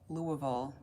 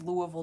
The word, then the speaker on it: Louisville: questions I don't know everyone pronounces Louisville differently but Louisville is how people in Louisville pronounce it but a lot a lot of people say Louisville or Louisville but then you know they're not from here it's always when I